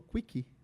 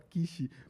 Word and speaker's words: quiche: E aí ele leu como se escreve, e ele falou quick pra garçonete. Can we have a quick? E é como se saísse uma rapidinha, e aí ela dá um tapa na cara dele. Eu te mandei esse vídeo. Mandou? E aí o cara fala assim, não, essa palavra se fala quiche, porque ele leu no menu.